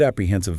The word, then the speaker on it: apprehensive: It's smooth, but the emphasis is on the middle syllable. H I I E N A T A as a you want to hit that heen sound.